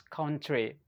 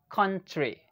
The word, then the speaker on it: country: And I grew up pronouncing this word as country.